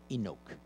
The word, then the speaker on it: Inuk: a forget all that the only thing that matters is how long you hold the sound so the u in inuk is short inuk the u in inuk